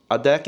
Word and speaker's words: Adekc: Adekc is how you pronounce my name in datu.